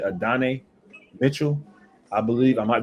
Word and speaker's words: Adonai: I want to say Adonai Mitchell. I believe I might be butchering his name. Adonai.